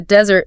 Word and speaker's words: desert: But if you're talking about the dry land, the desert, the stress shifts. It goes to the first syllable.